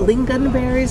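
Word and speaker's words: lingonberries: having the um swedish pancakes with is it lean gun berries is that how you say it yes i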